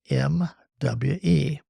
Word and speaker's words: mwe: with a special term we pronounce it mui mwe it's the merging of me and we join me in offering